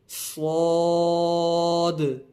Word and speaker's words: صاد: اس کو ہمیشہ ہر حالت میں پر یعنی موٹا پڑھیں گے. اور حروف صفیریہ کا تیسرا ورڈ بھی ہے، تو اس کو ادا کرتے وقت سیٹی کی طرح تیز آواز بھی نکلے گی.